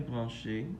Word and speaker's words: branchée: Ma sœur est branchée. You just add an extra E. The pronunciation doesn't change.